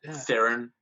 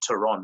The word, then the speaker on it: Theron: charlie's turon as well or theron as we probably pronounce it but actually the actual surname there is actually tehran i don't know if you know that or not but that's actually the south african way of pronouncing it but she's she's also